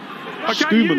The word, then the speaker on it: Schumann: Pierre Schumann is the correct pronunciation, but he prefers Schumann because he likes the crowd shouting 3, Shuey, Shuey.